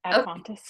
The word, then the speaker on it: ad fontes: Ad fontus? That's how I say it. Ad fontes, yeah.